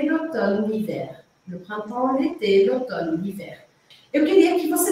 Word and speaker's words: l'automne: L'automne, outono. L'automne se escreve mn, só com um M só, vamos arrumar esse slide. L'automne. MNE. É meio estranho, mas é assim mesmo, l'automne.